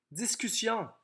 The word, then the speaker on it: discussion: Discussion. Oh! Voilà une exception à la régularité de mission-pression. Donc, discussion s'écrit S-S-I-O-N. Il faut absolument doubler le S, sinon on aurait discussion.